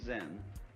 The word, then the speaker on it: Zen: Akar's Japanese pronunciation like Zen is the Japanese pronunciation of the Chinese chan.